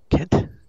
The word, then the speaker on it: Kent: Alright, so we're going to Kent. We would call it Cent, but that's because we have a soft G, not the hard G.